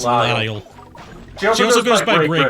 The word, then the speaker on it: Lisle: For some reason, I always thought it was Grey DeLacy. It's Lyle.